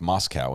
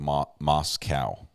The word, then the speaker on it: Moscow: work to get pickles we learned to pronounced Moscow instead of moss cow yeah it's like Moscow